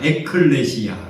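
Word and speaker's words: ἐκκλησία: 발음을 합니다 한번 따라합시다 에클레시아 에클레시아이 교회를 헬라어로 에클레시아라는 발음을 하는데이 에클레시아를 이제 원느 성경에서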